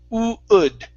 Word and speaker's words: would: Now instead of saying would, adding a G sound at the beginning, okay, start off with an oo. Okay, the word is would.